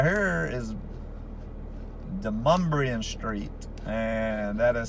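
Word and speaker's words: DeMonbreun: And this street right here is Demumbrian Street, and that is spelled Demon Breun, like Demon B-R-E-U-M, but it's pronounced Demumbrian.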